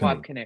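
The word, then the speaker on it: Wab Kinew: gone, it'll be the Ang- how do you pronounce Wab his name? Canoe. Wab Wab Canoe.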